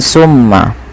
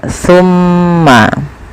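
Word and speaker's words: ثم: Hati-hati teman-teman dalam pelafalan tsa jangan sampai dibaca dengan sin ya jangan dibaca dengan summa tapi dia tsumma. Pakai sa bukan pakai sin ya.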